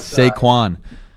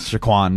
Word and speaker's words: Saquon: It's Saquon. Say it with me. Ready? Saquon. Saquon Barkley. Saquon Barkley. Not Shaquan.